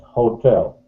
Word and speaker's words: hotel: I draw attention, stress, hotel. I emphasize on this. Hotel? Да, hotel.